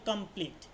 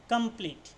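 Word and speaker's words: complete: আর কিছু না থাকলে প্রথমে ই এর উচ্চারণ হয় দীর্ঘইর মতন এবং দ্বিতীয় দ্বিতীয় যেইটা সেটা অনুচ্চারিত থাকে মানে ফাস্ট ইটার উচ্চারণ হয় দীর্ঘইর মত এবং দ্বিতীয় ইটার উচ্চারণ কোন হবে না সেটা মানে কি বলব সাইলেন্ট থাকবে ঠিক আছে যেমন কমপ্লিট কমপ্লিট দেখ কমপ্লিট পিটি পর্যন্তই হয়েছে কমপ্লিট টি বলছি না টি কমপ্লিটটি আমরা বলছি না কমপ্লিট দেখ ঠিক আছে এর পরে একটা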